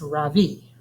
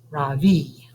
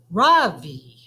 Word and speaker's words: Ravi: first name is ravi it's pronounced ravi the soft raw and a strong v ravi in sanskrit it means the sun in america people call me ravi with the stress on the first syllable that doesn't mean anything